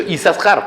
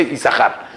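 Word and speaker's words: Isajar: Dice, en realidad, ¿por qué una de las sin no se pronuncia?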